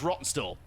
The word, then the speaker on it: Rawtenstall: And I was like, by the way, how do you pronounce that? And he was like, oh, it's Rottenstall.